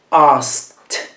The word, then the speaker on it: asked: Qui abbiamo un verbo che finisce con la K, e cioè un suono forte. Quindi, asked. La E non si pronuncia e la D si pronuncia come una T.